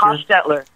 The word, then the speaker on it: Hostetler: how did I pronounce that right? Fred Hollister, Hostetler. Hostetler. Hostetler.